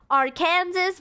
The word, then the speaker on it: Arkansas: Kansas Christmas bomb Arkansas no one calls it Arkansas but technically if it's Kansas and then it's AR Kansas wouldn't it be our Kansas not Arkansas why is it Arkansas what happened to the pronunciation of the as at the end Harkins if anything it's